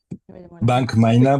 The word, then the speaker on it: Bank Myna: Bank Myna, but maybe you pronounce it better in English. No, no, I prefer Bank Myna.